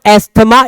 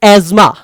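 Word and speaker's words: asthma: दुनिया में बहुत ज्यादा ज्ञानी लोग इसको एस्थमा बोलते हैं। इट्स नॉट एस्थमा, इट्स एज्मा। ठीक है, तो ये आपका एज्मा जो है ये आपको हो जाता है, ASMUH प्रोनाउंस होता है एज्मा।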